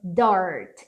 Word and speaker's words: dirt: Um Azinho fechado, the dirt. E esse Rzinho é da porta, da porteira.